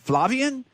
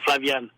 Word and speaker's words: Flavien: Now, I heard you pronounce his name Flavien. Is that how you say it? Well, that's a French pronunciation because my mother was French and I learned how to speak French.